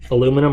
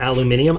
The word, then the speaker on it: aluminium: okay aluminium you know technically both ways to pronounce that are correct aluminum or aluminium I looked it up